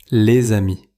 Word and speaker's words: les amis: Devant amis, il se prononce comme le son z. On dit : les-z-amis. Répétez : les amis.